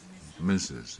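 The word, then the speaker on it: Mrs.: okay and RS period how do you pronounce that misses m i SS u s that's the way you pronounce it but that's not written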